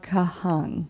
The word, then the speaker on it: Kahan: And also it's Noah Kahan. Yeah, and you're telling me I'm putting the emphasis in the wrong places.